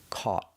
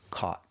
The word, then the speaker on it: caught: It's the sound aw, like ball and call. First, let's practice with catch. You catch the ball, in the past, caught. Pronunciation, caught.